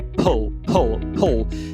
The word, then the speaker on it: pull: E a mesma coisa com que é pull. Se você falar com o do português, vai parecer que é piscina.